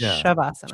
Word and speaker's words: Shavasana: Shavasana. So it's spelled s va n a but it's shabasana.